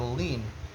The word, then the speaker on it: lien: a lean on it a lien is spelled l-i-e-n but it's titled lean I would say it's like leaning leaning meaning the property